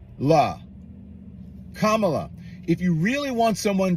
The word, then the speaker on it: Kamala: he's 60 years old you know that the Camila Harris K La Kamala if you really want someone to listen to